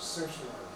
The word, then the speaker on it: certiorari: Don't look at the letters, certiorari. Certiorari. Don't even look at It's Okay. not spelled the way it's.